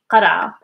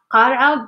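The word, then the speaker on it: قرعة: Yes, you can write this as qara, qara, but actually we pronounce it like very fast, which is like qara, qara. This is why I didn't pronounce any vowel over here, because there is no vowel actually.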